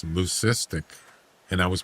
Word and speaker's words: lucistic: It's not luistic. It's lucistic. And I was pronouncing it wrong.